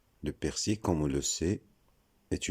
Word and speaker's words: persil: Deuxième mot, persil. Le persil, comme on le sait, est une plante aromatique utilisée en cuisine. C'est faux de dire persil. Le L final est muet. Donc la bonne prononciation, c'est persil.